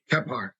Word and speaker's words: Kephart: Tell me if I'm pronouncing that correctly, brother. Keepart. Keart.